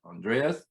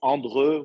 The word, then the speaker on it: Andreu: Andreas.